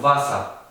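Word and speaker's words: Wasser: En cambio la W sí se pronuncia como una B corta. Entonces tenemos vasa, que también otra palabra se parece al inglés.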